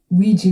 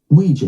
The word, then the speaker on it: Ouija: Ouija board. That's how you say it in the US. But in the UK, Ouija board. so there you go. It's Ouija in the UK and Ouija in America.